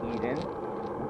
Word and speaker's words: Eiden: Corey and then Eden is how it's pronounced.